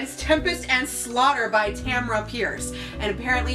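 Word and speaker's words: Tamora: Tempest and slaughter by Tamra Pierce and apparently it's Tamra Tamra is pronounced the same way you pronounce camera or so the internet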